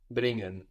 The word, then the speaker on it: bringen: Bringen. So you don't pronounce so much the g here because it's ng. It's an ng combination.